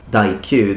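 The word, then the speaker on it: daikyū: Of course, when you put it in the in a compound, the same character for yumi is read Q. So when you say D meaning great, DQ, the the pronunciation will be Q.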